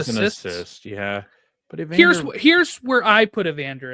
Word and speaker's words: Evander: And it rhymes with answer. It's Evander.